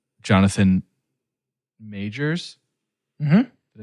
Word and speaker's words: Jonathan Majors: Maybe a younger artist or maybe someone who, like Jonathan Majors.